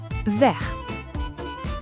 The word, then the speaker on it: vert: Une pomme verte. And notice it's not just the spelling that changes. The pronunciation changes, too. Vert verte. That final t becomes audible in the feminine.